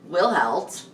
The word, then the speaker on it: Wilhelt: And as we see in Wilhelt, that's how you actually say his name?